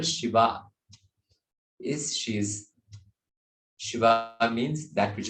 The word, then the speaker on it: Shiva: When we say in Sanskrit, when the second syllable is elongated, it becomes feminine. Shiva, Shiva.